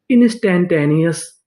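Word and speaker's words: instantaneous: इंस्टेंटेनियस।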